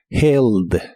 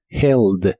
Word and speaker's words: held: pasado usa una e la H igual se pronuncia como una J suave held held en el pasado lo